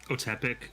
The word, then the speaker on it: Otepec: Otepic Huntmaster. Epic Huntmaster. Epic Huntmaster? Epic or- Otepic. Can you It's spell it?